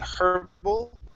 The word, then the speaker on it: herbal: Okay, now I believe in Canada they might actually pronounce the H saying herbal, and in the UK, but in the United States the H in herbs is silent.